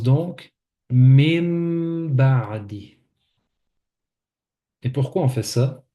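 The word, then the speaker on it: مِن بَعْدِ: On apprend que lorsque le noun avec une soukoun est suivi du ba, le noun devient un mim.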